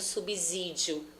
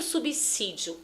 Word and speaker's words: subsídio: As pessoas acharem que o som desse S é de Z, como subsídio. Não é. Tanto subsídio quanto as suas palavras derivadas, o som é de C.